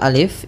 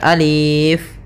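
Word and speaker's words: ألف: Nah, maka ketika kita membacanya, untuk alif ini la yumaddu, tidak dimatkan, tidak dipanjangkan, sehingga jangan dibaca alif, tapi hanya pendek saja alif.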